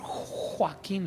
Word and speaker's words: Joaquín: Y así, como si fuera un imán, se fue directo conmigo y me toca y dice: Pastor Joaquín. Los gringos le ponen acento en la J a mi nombre.